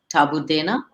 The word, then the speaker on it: Taboodana: So how would you pronounce it? Tabu Dana, Tabu Dana, at Tabudana?